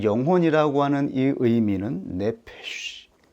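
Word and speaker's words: נֶפֶשׁ: 그리고 생령 즉 영혼이라고 하는이 의미는 네페쉬 SH 발음입니다. 바람 소리인 것이죠.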